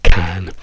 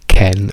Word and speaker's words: can: Ma guardiamo il verbo can. La forma di can è can con la a a non è Ken perché Ken è il marito di Bobe. Ken non esiste in inglese.